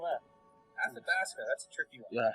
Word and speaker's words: Athabasca: Oh yeah, could you spell that? Athabasca, that's a tricky one.